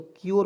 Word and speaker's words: cure: उसके बाद यहाँ पे देखिए CURE, तो दोस्तों यहाँ पे देखिएगा सी का उच्चारण आधा क के रूप में, URE इसका उच्चारण योर के रूप में, तो क्योर हो जाएगा दोस्तों।